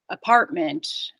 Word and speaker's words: apartment: on the second syllable so if something starts with an uh Amanda apartment uh official it has stress on the second syllable usually so you can't really